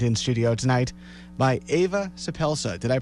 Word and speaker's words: Suppelsa: are being joined in studio tonight by Ava soup Elsa did i pronounce that correctly yes that was great welcome